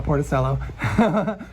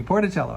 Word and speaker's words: Porticello: grandfather and great-grandmother leftist Lee actually he's from porticello porticello excuse me porticello I pronounced right Sicily and um the wife Maria